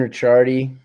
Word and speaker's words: Ricciardi: So, Kaden Richardy, am I even saying your last name right? Yeah, Richard. That's right.